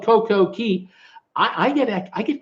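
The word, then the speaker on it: CocoCay: what a story Jim it's called Coco ki which rhymes with day not kee coke okay not tea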